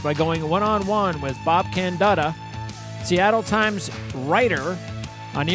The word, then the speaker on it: Candotta: And I said your last name in two different ways, so which way is the right way to say it? It's Candotta. Candotta, so, the second way.